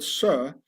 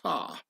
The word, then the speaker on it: sir: This is why in posh upper-class British the word sir has to be pronounced sar, and not sir, yes sir, to show one's solid origins.